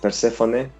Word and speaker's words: Persefone: Here we say like in a Spanish way, like Persefone. But everywhere is like Persephone, and of course in French it's Persefone. Persephone.